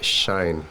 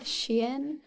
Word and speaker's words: Shein: Everyone buy Shine. Whatever this This is our is. sponsor for today. It's actually pronounced Shein, but We need sponsors.